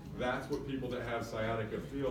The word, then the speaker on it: sciatica: Sciatica. Awesome, good, nobody pronounced the C in sciatica, that's good.